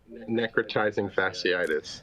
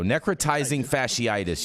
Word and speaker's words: necrotizing fasciitis: How do I pronounce that, you guys? Necrotizing Fasciitis. There we go. Necrotizing Fasciitis, you guys.